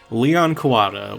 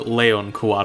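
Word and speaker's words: Leon Kuwata: Leon Kuada or Leon Kuada if you prefer the uh Japanese pronunciation of the name.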